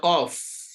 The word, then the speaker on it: ق: Letter qaf, like Q, but not 100%, because this is one of the echoing sound we have in Arabic.